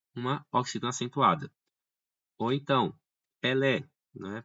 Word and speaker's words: Pelé: Ou então, Pelé, né? Pelé, que é um grande jogador de futebol. Pelé tem a tonicidade na última sílaba, é uma oxítona, e terminou em E, logo Pelé, ok?